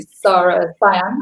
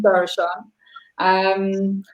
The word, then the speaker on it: Sara Siân: Everyone calls me Sara Siân, but it's spelled so I pronounce Sara Siân.